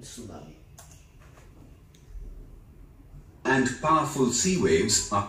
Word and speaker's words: tsunami: यहाँ पे टी जो है वो साइलेंट है इन सुनामी।